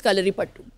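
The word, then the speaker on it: Kalaripayattu: कलरी पट्टू, पट्टू है, कलरी पट्टू है, कलरी पट्टू है, लेकिन it's pronounced as कलरी पट्टू।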